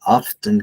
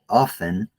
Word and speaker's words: often: Do you know this word right here can be pronounced in two ways? You can say often, or you can say often. There is no difference. You can choose. Often or often, both are correct.